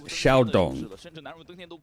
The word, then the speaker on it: Xiaodong: And to be clear, the pronunciation of the IGL, this player here from Nova, is Xiaodong. It isn't.